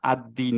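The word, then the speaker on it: الدين: না হচ্ছে না রাইট সো আমরা আদ্বীন পড়বো বিকজ হচ্ছে যে মাঝে একটা একটা আনপ্রোনাউন্স লাম আছে কেন আনপ্রোনাউন্স বিকজ হচ্ছে পরের লেটারটা আমাদের শামসিয়া লেটার আবারো এই জায়গাটায় দেখি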